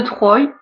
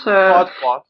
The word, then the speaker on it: Troie: Oui, c'est la chute de Troy, enfin de Troie, je sais pas comment on prononce. Troie.